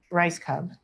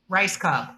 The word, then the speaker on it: Rajskub: Mary Lynn, MaryLynn, last name Raj, it sucks, SKUB, Rajskub. Rajskub, but no one says it correctly.